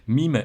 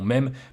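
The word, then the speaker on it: meme: êtes au courant que c'est un terme anglais donc on devrait le prononcer MIM et non même mais vous connaissez le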